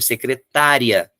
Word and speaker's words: secretária: O acento eu preciso ter secretária. Se eu não tiver o acento, a tônica vai para o final, secretaria.